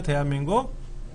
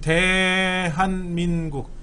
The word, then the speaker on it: 대한: 보이기도 하고 이렇게 그럼 대한민국 대한 그 우리 월드컵 할 때 대한민국 이랬는데 대한 대자가 길게 길게 발음하는 거죠 대한 응원할 때는 대한